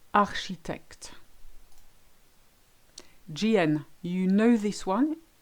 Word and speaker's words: architecte: CH always makes the sound sh. Chercher, marcher, and my favorite, architecte.